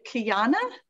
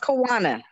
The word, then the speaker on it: Kiana: So we have, is it Kiana? I feel like I said it wrong. Did I say it wrong? Don't be shy if you want to unmute. It's pronounced Kiwana.